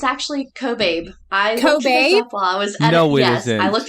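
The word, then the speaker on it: Kobabe: pronounced um if you look back at my pronunciation that wrong kab it's actually it's actually cobab I was yes I looked I love that love that no cobab is way better pronunciation person change your last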